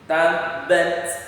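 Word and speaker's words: تبّت: Tapi kalau kita bacanya tabat yada, oh berarti Coba lihat Ustaz baik-baik, perhatikan bunyinya, ada keluar angin sedikit. Tabbat yada, tapi jangan terlalu kuat. Misalkan tabbat yada, nggak boleh, sedikit aja. Tabbat yada abi lahabin wa tab. Tarmihim, bacanya cukup dengan tarmihim, tapi ada yang berpendapat bacanya juga dihamaskan. Jadi tarmihim terserah. Tapi pendapat yang paling utama itu ketika tak itu berharakat tidak dihamaskan, kecuali ketika dia berharakat sukun.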